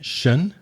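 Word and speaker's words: -sion: The same pronunciation is sion, again, shun.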